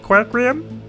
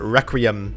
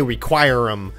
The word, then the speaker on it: Requiem: CenterStrain01 here, and we've got more the Mandelbulb Requiem. I want to say Requirem, but I know that's not how you say it.